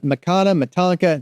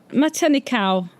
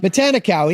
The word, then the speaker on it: Matanikau: Matanka. No. Yes. Yeah. It's a good story. Yeah, God. you're right. Matanikau. Yes. I'm saying it wrong. I'm so sorry I'm saying it wrong. Matanikau.